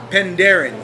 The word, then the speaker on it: Penderyn: of this fine whiskey it's pandaren correct that's right most people tend out tend